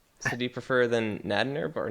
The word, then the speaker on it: Nadnerb: So do you prefer then Nadnerb or Nadnerbed? I would prefer that nobody ever pronounce the D. The D is silent.